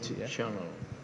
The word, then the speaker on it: Chanel: kees9 satu unitas channel I chanel chanel bacanya SH ini dari eolesale juga